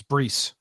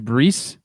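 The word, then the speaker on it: Bryse: yes and the y it's brees his name is breese um well you can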